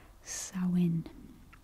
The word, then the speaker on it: Samhuinn: So the Druid name for Halloween is pronounced as Samhuinn, but as you can see, the word itself is spelled very differently, so be careful with this one.